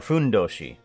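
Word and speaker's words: fundoshi: I keep forgetting that it needs to be pronounced in Japanese. And the fu is who. It's kind of like um it's not an actual f, but it's kind of just like a passing of a u out of your face.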